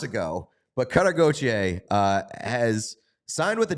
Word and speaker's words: Gauthier: cutter goer we've learned we've learned how to pronounce that one months ago but cutter goer uh has signed with